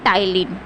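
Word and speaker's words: ptyalin: और इसका दूसरा नाम होता है टाइलिन। ये जो पी है ना यहाँ पे, ये साइलेंट होता है, इसको हम प्रोनाउंसिएशन में कहते हैं टाइलिन, ठीक है।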